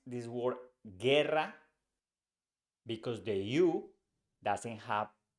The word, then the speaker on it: guerra: in go for example with the word we pronounce this word Guerra because the EU doesn't have the two dots